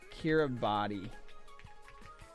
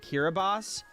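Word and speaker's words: Kiribati: Uh, Kiraabati. If they wanted people to pronounce it Kiraabos, they should have spelled it Kiraabos.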